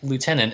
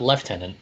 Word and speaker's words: lieutenant: despite her later rank it is lieutenant and not left-handed as we learned on Friday on Friday when the most British of our friends pronounced the word lieutenant that's not true second